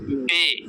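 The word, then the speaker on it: بے: যেমন বে, আমরা আরবিতে পড়ছি বা, এখানে পড়তেছি বে।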